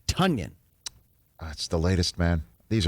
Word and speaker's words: Tonyan: name is pronounced tanyan as in rhyming with funyun apparently everyone has been calling him tanyan for a long time and he just didn't feel like correcting people he's too nice but it's tonyan that's the latest man